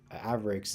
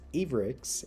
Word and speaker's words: Avrix: raid, I've been mispronouncing Avrix's name. I didn't realize it until now. But I'm trying to fix it in my head that it's not pronounced Avrix, it's Avrix.